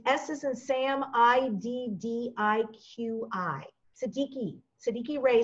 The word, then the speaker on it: Siddiqui: a question right now sherry the name is Siddiqui I'm gonna spell it for you in case it makes an energetic difference for someone who does words its essence am i DDI Qi Siddiqui Siddiqui ray says my question is my migraines